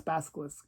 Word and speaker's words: Basilisk: He couldn't pronounce the name, but it's Basilisk.